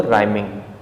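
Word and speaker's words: rhyming: Next word दिया हो राइमिंग, राइमिंग, इसे राइमिंग नहीं हम राइमिंग पढ़ते हैं, यहाँ पर एच साइलेंट होता है। क्योंकि आर के बाद आ रहा है, इसका अर्थ एच साइलेंट हो जाएगा।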